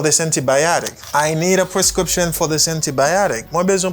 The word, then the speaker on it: prescription: Scription, c'est syllabe qui accentue. OK, c'est avant chaîne ça, syllabe ça, c'est les mêmes qui accentuent.